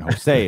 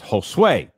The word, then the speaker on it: Josue: I have to say it like that, or I'll call his name isn't Jose, it's Josue. No, Beverly Hills Cop 3 is awful.